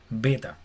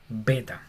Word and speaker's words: beta: Hasta ahí vamos igual a nuestro idioma, pero esta se llama beta. Beta. Y tiene que ser pronunciada con B, así como una B fuerte como de boca, beta.